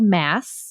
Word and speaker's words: MASS: It's called mass method, marketing as a system. Mass rhymes with sass.